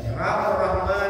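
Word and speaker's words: الرحمن: Ar-Rahman Ar-Rahim dibaca dengan tafkhim tebal. Ra-nya hanya tebal. Ra bunyi ra.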